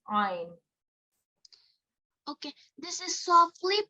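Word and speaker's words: ع: how do you pronounce Ein okay this is softly pronounced from the middle of the throat and is one of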